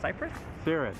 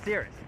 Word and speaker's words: Cirrus: come and pronounce for us. We are here doing a fursuit photo shoot for Cyprus? Cirrus.